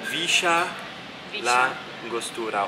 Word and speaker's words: Villa La Angostura: yeah here it's like a shirt so it's Risha la angostura or yo that it means I usually it's